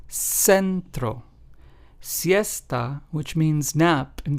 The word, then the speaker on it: centro: For example, centro, which means center in Spanish, is pronounced as centro.